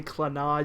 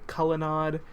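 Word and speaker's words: Clannad: I mean, you can say Clanad, you can say Clanad, you can say Cullinad. I mean, all of those work.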